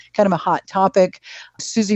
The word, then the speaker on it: Susi: Susie Miller is British. It's spelled SUSI, is a wonderful resource on accessibility.